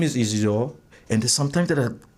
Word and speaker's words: Isidore: Then I tell him, "Oh, look, my name is Isidore, and there's sometimes that I catch myself to pronounce my name. I say it's French, kind of Isidore."